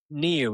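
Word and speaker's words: NIU: New. Yeah, he said it's actually pronounced New.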